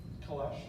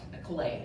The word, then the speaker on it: Calais: Kalesh. Yeah, Calais is how it's normally pronounced, but 20 points.